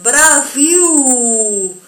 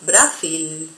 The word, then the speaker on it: Brasil: En esos dos casos, nuestra L se va a pronunciar, la L, perdón, en portugués se va a pronunciar como nuestra letra U. Por eso es Brasil y no Brasil.